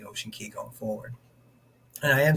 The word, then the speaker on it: Ocean Cay: as I know the the correct pronunciation is key uh kind of like uh Key West that type of thing